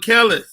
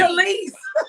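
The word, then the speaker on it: Kelis: Have y'all seen this whole thing with Kellis? Yes. That's how you know she ain't important because you ain't even say her name right. Yep. What's her name? Khalees.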